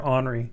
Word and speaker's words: Ornery: Is it Ornery or Ornery?